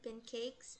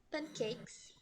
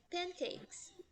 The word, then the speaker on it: pancakes: do que você fala pancakes e é pancakes, tá? Pancakes. Lembra que a letra A, ela tem o som de E.